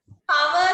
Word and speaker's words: hour: Hour කියලාද? Hour කියලාද? Hour නෙමෙයි. මෙන්න මේ h එක silent පුතේ. අපි මේක පටන් ගන්නෙ අ වලින්. හ sound කරන්නේ නැහැ.